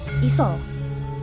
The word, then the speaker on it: isa: Jadi tulisannya tuh Isa, tapi bacanya Iso.